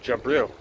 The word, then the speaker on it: Jibril: They pronounce it Jabril, right? And it's spelled exactly the same way, Jibril, right?